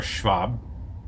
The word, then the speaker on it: Schwab: which I find interestingly the name Schwab is the same spelling as clous Schwab or Schwab with a V but it's spelled with a w next we have Deo